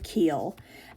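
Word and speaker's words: Keuhl: Um, so there is this woman, her name is Sheri Keel, and it's spelled, I think, K E U H L, something like that, Sherry Keel.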